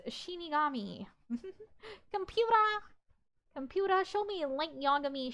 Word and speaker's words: Shinigami: Actually, it's pronounced Shinigami.